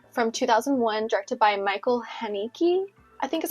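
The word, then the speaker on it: Haneke: the piano teacher from 2001 directed by Michael haniki I think is how you say his name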